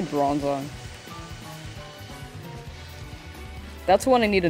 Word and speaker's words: Bronzong: read them correctly oh I never say brong right it's bronzong I always say brong like it's wearing a bra I need to I need to say bronzong that's one I need